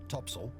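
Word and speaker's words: topsail: course four Top Sail pronounced topsel and four top gall s pronounced for to gel on the main Mast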